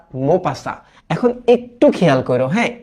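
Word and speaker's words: Maupassant: ডে লেখা না, এটা উচ্চারণ করি আমরা দ, হ্যাঁ, মোপাসা। এখন এই যে বানান দেখো, লাস্টে কিন্তু এনটি আছে, তো এটা একটু মনে রেখো।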